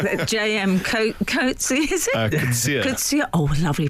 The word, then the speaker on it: Coetzee: Coetzee. Oh, lovely pronunciation.